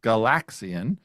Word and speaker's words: Galaxian: Also pronounced with with the emphasis on the second syllable, Galaxian.